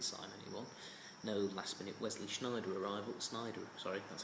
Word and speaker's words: Sneijder: No last-minute Wesley Sneijder arrival. Sorry, that's how you pronounce it.